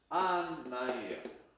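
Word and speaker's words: 案内: 요 애 발음 돼요? 잘 안 되죠? 그럼 어떻게 한다? 저도 나누죠. 아이로 나눠요. 그래서 안내는 뭐다? 안나이예요.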